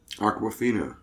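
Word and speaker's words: Awkwafina: Aquafina. Like the water. Really? Yeah, You sounded out, Martin. Martin, I said it earlier. Look, I wish you had listened. Aquafina.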